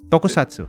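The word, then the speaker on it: 特撮: Is it tokusatsu? How do you say it? Tokusatsu.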